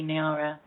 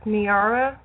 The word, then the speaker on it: Niara: Am I pronouncing your name correctly, Nara? Um, it's pronounced Niara.